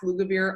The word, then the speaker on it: Lugavere: If you guys do not follow Max Lugavere on Instagram, you need to follow Max. He is really good looking also. But Can you say his name again, Max? Max Lugavere. Yeah, like it sounds, Lugavere.